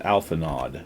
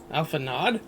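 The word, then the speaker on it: Alphinaud: He He pronounced it alpha nod. So, that's what I'll do. Alpha Nod.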